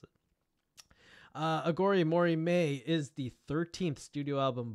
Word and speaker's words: Aghori Mhori Mei: Corin in an interview has clarified how to pronounce it uh agori Mory May is the 13th studio album by American rock